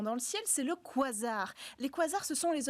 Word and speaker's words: quasar: Vous Oui, prononcez on dit quasar, oui, exactement.